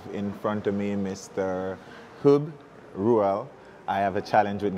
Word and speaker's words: Huub Ruel: hoob rural I have a challenge with getting names correctly so forgive me did I pronounce it okay okay perfect great welcome welcome